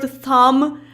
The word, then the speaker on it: thumb: Especially with the silent B. Like, in the word thumb, I definitely heard a B there somewhere.